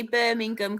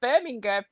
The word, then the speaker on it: Birmingham: We see Birmingham, but we don't say the G, so we probably say it wrong.